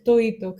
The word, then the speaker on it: toito: Toito is the Spanish word for todo, meaning everything, but in the diminutive form with Andalusian pronunciation, which is very typical in flamenco, where you drop the D.